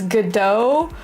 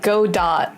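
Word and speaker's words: Godot: So apparently the T is silent. So it's gdo but it looks like when you read the name it looks like go dot right.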